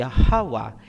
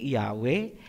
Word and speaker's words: Yahawa: So klarado na po tayo, ang pangalan ng ama ay Yahawa, hindi Yahweh, hindi Jehovah, hindi Ahaya, hindi Yahuwah, at mas lalong hindi Jesus Christ.